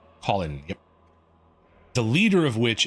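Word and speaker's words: Kholin: The leader of which Colin.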